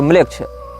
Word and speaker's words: Melech: ANAMMLECH या इसी प्रकार की कोई स्पेलिंग आप टाइप करेंगे, अनाम ANAM और म्लेच्छ। इसमें म्लेच्छ जो है वो हमारा वाला म्लेच्छ नहीं है, मेलेच्छ, मेलेच्छ शब्द जैसा है, MELECH इस प्रकार से।